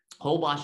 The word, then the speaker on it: Holbox: out to the island hobash is spelled h-o-l-b-o-x because it's mayan the name is mayan so another one super